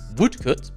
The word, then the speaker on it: Woodcote: Woodcote, pronounced Woodcote because British, is named after Woodcote